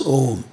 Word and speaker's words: Om: This is a very great sound, a combination of 3 syllables, A, U and And A and U together make O, and then you add the anuswara to it, humming. So it becomes Om.